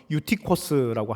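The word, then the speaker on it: Εὔτυχος: 유도구의 헬라 이름은 헬라식 발음은 유티코스라고 합니다.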